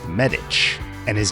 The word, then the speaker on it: Medich: cards but I always assumed his name was pronounced medic and that that was the obvious source of his nickname but his name is actually pronounced medic and his nickname was Doc because he was in fact